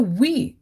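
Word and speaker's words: wie: is we gates the we w i e like in we in english w e means how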